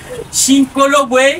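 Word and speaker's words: Shinkolobwe: Chinkolobwe, c'est la localité congolaise où l'uranium est exploité. Voilà, merci beaucoup Chinkolobwe.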